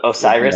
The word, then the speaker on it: Osiris: Osiris is how you say it.